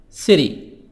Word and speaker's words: city: City. Cities. Cities. T soft D. City. T soft D. قلنا T هنطقها D خفيفة علشان آخر المقطع TY. وهنا T بين حرفين متحركين فاتنطقت soft D أو D خفيفة.